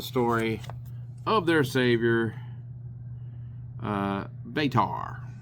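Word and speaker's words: Batar: He basically now asked for people to give him coins for telling the blessed story of their savior uh betar spelled b a t a r.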